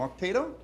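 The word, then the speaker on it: Okteto: We have Victor and Ramiro from Octeto. Wait, is that how you pronounce it? Octeto, yeah.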